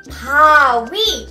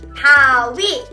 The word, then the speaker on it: 바위: It is pronounced as 가위. 가위. 가위. 가위. Good job. Next is 바위. 바위.